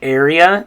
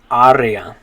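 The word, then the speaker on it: área: say area area okay in english area in spanish you'd say arya good okay the next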